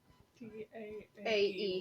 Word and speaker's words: Daae: DAAE with an accent on the E.